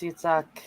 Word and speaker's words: Yitzhak: decided on the name Yitzhak? Yeah, apparently. Wow. Isaac. Yeah. I'm just calling him Isaac. It was ISZAC, so that's Isaac. It is. It's Yitzhak, like Yitzhak Perlman.